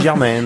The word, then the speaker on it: Germain: Parce que selon les régions, quand ça s'appelle Germain, on dit Germaine.